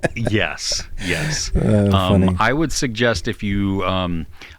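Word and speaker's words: Aoife: there's one that's um it's spelled uh wait let me find it I'm trying to spell Sher yeah exactly it's a o i f e okay a o i f how would you pronounce that a o i f ify oh that's close yeah she they epha yeah see I I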